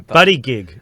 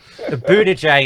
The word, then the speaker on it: Buttigieg: Buddy gig. Butt plug. Isn't it butt gig? I thought it was butt gig. Yeah. Buttigieg is the official pronunciation.